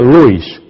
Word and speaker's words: Lewis: señora agnes agnes cs se escribe Lewis se pronuncia Lewis y la señora benzle